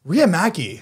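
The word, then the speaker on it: Riihimaki: like that how do you how do you pronounce it riyamaki you were super close Ria Maggie that's a really cool that's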